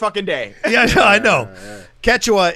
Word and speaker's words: Quechua: day yeah i know quechua is how it's said that's the guy that's